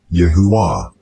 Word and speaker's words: YaHuWaH: In the previous video I already gave you the explanation of why it is pronounced Yahuwah with a feminine ending.